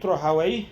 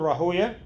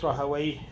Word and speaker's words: Rahawayh: Okay, you will hear it Rahawayh or Rahoya. It's more famous Rahoya, but the correct pronunciation is Rahawayh, like Rahawayh, Sibawayh, Mardawayh.